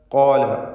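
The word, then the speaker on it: قَالَ: ഖാല ഖാഫിനും അലിഫിനും തഫ്ഖീമാണ്, തടിപ്പിച്ച് സ്വരഭാരത്തോടെ ഉച്ചരിക്കുക. ഖാല ഇഹ്ബിതാ.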